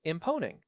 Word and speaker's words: Mponeng: Herman poppleberry here and I have to say imponing and that is pronounced with a soft hum on the immeo